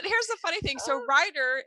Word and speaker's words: Ryder: the funny thing so writer is spelled r y d e r but it's also kind of a play on writer w or i t